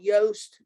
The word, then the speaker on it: Yoast: been a plug-in called yoast to do like it rhymes with toast but it starts with a y to do seo and